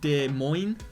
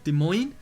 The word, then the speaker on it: Des Moines: pittsburgh do so that's obviously right the uh des moines des moines i pronounced it wrong in a video before but people told me to do groin as the thing des moines again everywhere else and that is a halloween